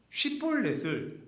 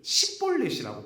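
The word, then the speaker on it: שבולת: 지나가면서 에브라임 사람인지 아닌 사람인지 어떻게 구분하냐면은 지나가다가 쉿볼렛을 발음하라고 해요. 그런데 에브라임 사람들은요, 쉿볼렛을 십볼렛이라고 발음합니다. 발음해서 십볼렛이라고 발음하면 죽여버리는 거예요.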